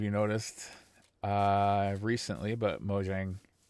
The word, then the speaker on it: Mojang: noticed uh recently but mojang or moyang i don't know how to pronounce it properly i think it's moyang because it is swedish but uh they they